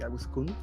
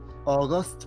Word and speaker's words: Aguskun: Yes, and then it would be like Aguskun because the Japanese like suffix like in names like Agus-chan, Aguskun would be Aguskun. But I know it's difficult for English speakers, so they go like in like August pronunciation, like the month. So I'm okay with that too.